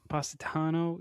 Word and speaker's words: Positano: And another full suit, the I don't know how to pronounce it. Positano. Positano.